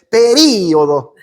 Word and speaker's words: período: uruguayos y las argentinos Ellos dicen período y lo acentúan nosotros decimos periodo y no ti acento entonces hagan lo que